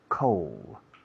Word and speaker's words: coal: Coal. Suena frío, pero sin la D. Coal, pero si escribe coal.